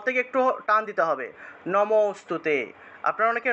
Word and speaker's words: নমোস্তুতে: এভাবে বললে হবে না নমো বলে থামা যাবে না নমো অস্তুতে এভাবে থেমে থেমে উচ্চারণ করা যাবে না একসাথে বলতে হবে এটা হলো একটা শব্দ এটা হলো একটা শব্দ যদিও আমি এখানে আলাদা আলাদা করে আপনাদের বুঝানোর জন্য লিখেছি তবে এটাকে একসাথে উচ্চারণ করতে হবে নমোস্তুতে নমোস্তুতে এই যে